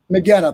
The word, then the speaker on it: Magena: Mahena, I know you wanted to jump in. I'm saying it wrong, right? So correct me. It's Magena? Magena, thank you.